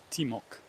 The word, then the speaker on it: Timok: river is part of the timok river teamok pronounced here I think it comes